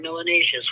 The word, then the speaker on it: melanaceous: If you have more melanin, you're melanaceous, which rhymes with gracious and spacious and efficacious.